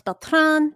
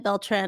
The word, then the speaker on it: Beltran: Yeah, well, if you can roll the R, it's Beltran, but I said it Beltran until I had like a Spanish substitute who said it right.